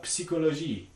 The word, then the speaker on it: psychologie: But in French, they're actually pronounced. So it's going to be something like pterodactyle, ptero, or psychologie, right? So you're going to find that these are pronounced, but they're invariantly voiceless in these contexts.